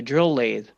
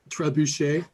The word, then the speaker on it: trebuchet: Yeah, the drill lathe. That's not how you pronounce it, is it? No, it's Well- not. How do you pronounce it then? Trebuchet.